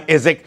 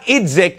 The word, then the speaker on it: Idzik: Wow, John Idzik. Not Idzik. The D in his name is silent.